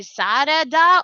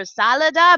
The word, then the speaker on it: Sarada: Okay, granted, in Japanese it's supposed to be Sarada or Salada, but the translation comes off as salad.